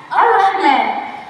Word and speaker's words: الرحمن: الرحمن تبدأ بهمزة وصل. همزة وصل نبدأ بها بسم الله، ولكن عند الوصل أسكت مش هنطقها يعني. بسم الله الرا بدل الراء، يعني سقطت الهمزة الوصل يبقى الراء، نفس الراء. الراء أيضا حرف مشدد بالفتح وليس بالضم. بسم الله الرو هذا خطأ، ولكن بسم الله الرا